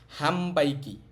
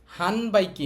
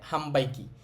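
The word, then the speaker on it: 販売機: পু পে পো তাহলে ন এর পরে বি এম পি থাকলে ন এর উচ্চারণটা ম হবে হবে এখানে খেয়াল করেন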